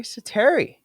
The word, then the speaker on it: Säteri: He's got the double dots over the A in his last name. Makes it an E sound, which is fun.